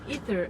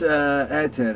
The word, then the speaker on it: Ae:ther: should I call you Ether? I don't know. It's ether. It's ancient word. It's Greek word. Yeah. So it's ether, basically. Okay. So because you don't pronounce the A.